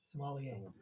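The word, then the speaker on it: sommelier: Somalier.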